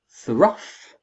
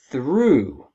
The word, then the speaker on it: through: We spell the same as rough, but we pronounce it totally differently.